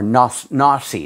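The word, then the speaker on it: נשיא: In biblical Hebrew, the word, and he's got it spelled out in Hebrew, Nasi, looks like Nasi, or Nasi is how he's got it pronounced, means prince, chief, ruler, and is also the modern Hebrew word for president.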